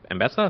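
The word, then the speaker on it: Ambessa: Apparently, which is with the new League of Legends champion, Mbessa.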